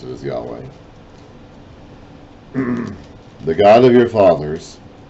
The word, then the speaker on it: Yahweh: lord so that's the yahweh idea that we pronounce it as yahweh the god of your fathers the god of